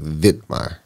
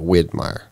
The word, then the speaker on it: Widmaier: So the last name, though, what got me was spelled with a W, but it's almost said with a V, like Widmaier. Yeah. Instead of Widmaier.